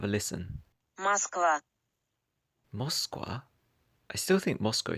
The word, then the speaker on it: Москва: I actually looked up the Russian pronunciation and it's completely different. Have a listen. Москва.